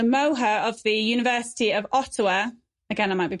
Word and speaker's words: Ottawa: Ottawa, and I'm probably pronouncing his name wrong. Oh. All right, okay. It's Ottawa, as in something that is a bit more like an otter.